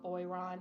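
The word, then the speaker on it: Boiron: holistic things from Amazon um this company called boyon that has something that is just for your Airways oh what spell that b o i r o n and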